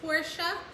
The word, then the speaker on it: Porsche: that's most likely pronouncing Porsche wrong that it's pronounced Porsche, or even that Lamborghinis all fall under the Volkswagen brand.